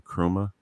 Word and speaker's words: Nkrumah: And Krumah is how you actually pronounce it, but that's Okay.